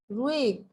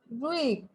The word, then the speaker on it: ruhig: manchmal man sagt ruhig, manchmal sagt man auch ruhig। মাঝে মধ্যে কেউ কেউ রুইগও উচ্চারণ করে। সো আপনি রুইগ অথবা রুইশ দুইটাই বলতে পারেন, কোনোটাই ভুল হবে না।